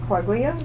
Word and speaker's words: Quaglia: And he and Frank Quaglia. The G is silent.